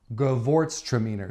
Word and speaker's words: Gewurztraminer: know that I'm definitely going to need help pronouncing this ready girl boart's truck meaner Gewurztraminer so it's GE w u r ZT r